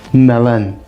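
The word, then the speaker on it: melen: word for yellow but you also get a feminine version melon can you see the difference there melon melon you don't hear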